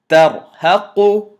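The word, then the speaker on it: ترهق: This ra I'm going to pronounce heavy, and this ra I'm going to pronounce light. Ta fatha ain sukoon ta. Ra kasrari. Ta'ri. Fa dhamma fu. Ta'rifu. So this is tarhaqu.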